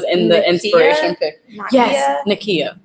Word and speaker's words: Nakia: the integration yeah yeah Nakia oh my god I had her name rhymes with mine guys why did I